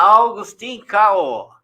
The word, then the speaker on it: Augustine Kawoh: Olá, Augustin Cao. Se eu estiver pronunciando errado, você me corrija, por favor. Não, você tá certo.